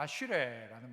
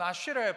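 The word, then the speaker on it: אשרי: 복되다라는 말이 히브리어는 뭔가 아슈레라는 말입니다. 제 발음이 정확하지는 않을 수 있지만 한번 그래도 따라해봐요. 아슈레. 이게 복입니다.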